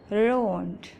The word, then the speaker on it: road: In the word team, T-E-A-M, team, two vowels are coming together. E is talking and A is silent.